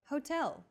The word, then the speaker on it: hotel: of subway foreign next Hotel see that in Portuguese H is the first letter is always silent except for specific foreign loan words for a specific